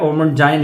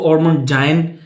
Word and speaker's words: Ormonde Jayne: लिए यह है कि आप जो मर्जी इसको प्रोनाउंस करें मैं इसको ओमन जाइन पढ़ता हूं ठीक है तो ये